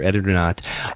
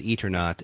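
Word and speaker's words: Eternauta: pronounced it Eternaut or Eternaut. I'm curious. I've heard a lot of people, I pronounce it Eternaut, but I've heard a lot of other people pronounce it in English Eternaut.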